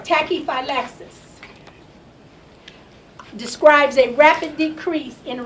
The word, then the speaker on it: tachyphylaxis: Next word, number 4, tachyphylaxis.